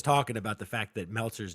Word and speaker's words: Meltzer: about the fact that meltzer's name rhymes with seltzer you know like your